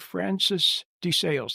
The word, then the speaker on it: Francis de Sales: these were the the the order was called the oblates of St Francis de Sales that's how they pronounced it so that's the way I'm going to pronounce it but anyway St